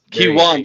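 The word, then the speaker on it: Keyone: Of course, we're talking about Kon or Man, I just butchered it, didn't I? Uh Kiwon Jenkins. Kiwan Jenkins.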